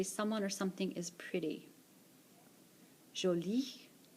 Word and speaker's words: jolie: Jolie. Jolie. These are both pronounced the same. The top one is talking about masculine things, the bottom is talking about feminine things. Jolie.